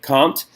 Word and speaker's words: Comte: talk about guys like I never say his name right caught all right comped is actually not to be confused with Immanuel Kant kan T two very different people Auguste comped is a